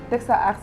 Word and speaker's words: Techsaart: Teksa Art s'écrit TECHSAART.uvs.sn.